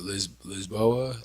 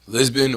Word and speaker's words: Lisboa: Portugal I was in lisboa Lisbon or lisboa they pronounced it both ways okay fire time okay